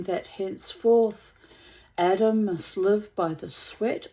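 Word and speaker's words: אדם: The name Adam, which in Hebrew is pronounced Adam, means earth.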